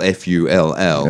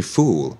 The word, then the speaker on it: full: um episode you know if you said um you're trying to say full f-u-l-l and you say with a long o yeah you say fool yeah full yeah this is the